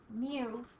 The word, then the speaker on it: mu: It's pronounced mu.